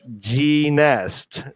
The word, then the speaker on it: Genest: It's pronounced like genius, but Genest.